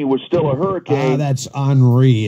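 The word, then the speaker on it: Henri: been a lot worse if old tropical storm horny was still a hurricane that's anri it's spelled on re but it's pronounced nobody likes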